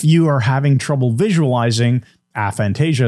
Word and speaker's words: aphantasia: are having trouble visualizing aphantasia as we call it or aventis a fantasia is that which is the right pronunciation either one either one okay so we we